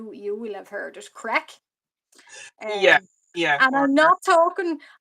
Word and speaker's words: craic: Crack. Yeah, Um, yeah, and or I'm not talking. I just to be clear, I'm not talking about something else. It's CRAIC, but it's pronounced crack.